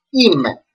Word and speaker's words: είμαι: The first is epsilon iota, that makes the sound E, and E at the end, alpha iota, that make the sound E. So it is pronounced είμαι.